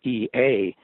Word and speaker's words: Ea: English in the Roman alphabet would be spelled EA, in the oldest language in the shaman world, that was actually spelled EJE and still pronounced Ea.